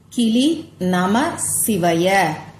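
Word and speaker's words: க்லீம் நம சிவாய: கிளி நம சிவாய கிளி நமசிவாய கிளி நம சிவய இதுதான் அந்த ஒரு வார்த்தை மந்திரம் ரொம்ப ரொம்ப சக்தி வாய்ந்த மந்திரம்னே சொல்லலாம் இதுல கிளி நம சிவாய அப்படின்னு தான் நீங்க உச்சரிக்கணும் நமசிவாய அப்படின்னு சொல்லி உச்சரிக்க கூடாது இந்த மந்திரத்தை நீங்க சொல்ல சொல்ல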